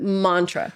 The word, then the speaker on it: mantra: So you pronounce it mantra, right? Oh, mantra. Yeah. But the a is short. So it's man.